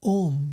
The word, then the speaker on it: Om: Srila Vishwanath Chakravarti says, in the mantra Om, you've heard the mantra Om, right? Well, it consists of 3 syllables, A, U, and Ma.